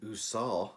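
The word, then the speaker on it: Ausar: well uh Jaylen Duran isah Stewart and and usar I've remembered how to say it huzar Thompson are providing rebounds and blocks uh Duran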